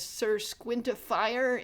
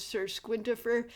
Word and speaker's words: Squintifer: I think because people were mispronouncing it as Sirquintifier instead of Sir Squintifer.